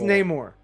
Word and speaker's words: Namor: Is it pronounced Namor or I think Namor? It's Namor.